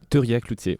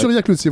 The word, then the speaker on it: Theurillat-Cloutier: Et je salue Arnaud Turia-Cloutier. Est-ce que je prononce bien? Turia-Cloutier. Ouais. Turia-Cloutier, voilà. Ouais.